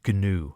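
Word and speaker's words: Gnu: ganu as it says always pronounced these days like a two syllable word ganu I think it used to be new originally G I don't know how you pronounce it originally I've always pronounced it ganu it has to be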